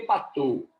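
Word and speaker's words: Patau: A trissomia do 13 é a síndrome de Patou. Se escreve Patal, mas se pronuncia Patou. Tem que ter até o sotaque francês.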